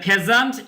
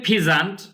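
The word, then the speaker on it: pheasant: দেখে কি করে, দ্য ফেজান্ট এই যে উচ্চারণ কিন্তু ফিজান্ট নয়, ফেজান্ট, এখানে যে ই এ আছে, এটার ই এবং এই দুটো মিলে একটা সাউন্ড হবে যে এ সাউন্ড, তাহলে কি হলো, সিং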